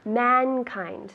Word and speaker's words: mankind: So, mankind, tell me. Humanidad. And in English? Mankind. Again? Mankind. Perfect, good. Mankind, with the D at the end.